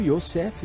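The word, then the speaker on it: יוסף: governador do Egito foi José ou o yosseff pronunciado em hebraico ele era um judeu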